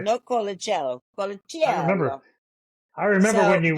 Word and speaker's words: Colaciello: Colaciello. It's cola like Coca-Cola. You were in Cello. Italy when you were in Italy when you learned how to say your name. Colaciello. Right. They said no Colaciello.